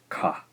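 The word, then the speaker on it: か: So that is ka, ka. All right, our next syllable is the marriage of the K consonant and the I vowel sound.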